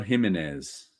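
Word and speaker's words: Jiménez: there what was thatz himz yeah not you don't pronounce the J sounds like it's like it's like haime Alberto gimenez Albuquerque and um it's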